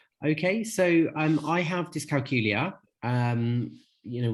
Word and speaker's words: dyscalculia: so um I have dyscalculia um you know which rhymes with Julia um and um I was diagnosed when I was 10.